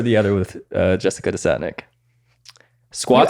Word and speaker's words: Desatnick: other with uh Jessica desotnik Squad I actually pronounce my last name right yeah thank you how do people with other products people butcher it every time like destinic the Santa just and like growing up